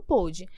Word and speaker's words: pôde: Então, quando você quer se referir a algo no passado, você fecha mais.